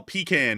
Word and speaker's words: pecan: P and then can and then with ours it would be like P E H P and then con spelled K A H in um with like a dash between the two I say I got them all three.